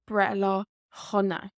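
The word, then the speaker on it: Breithlá shona: However, when we speak it, especially in some dialects, they will put in a H sound. So Brethla Hunna. Brethla Hunna. So the S becomes silent.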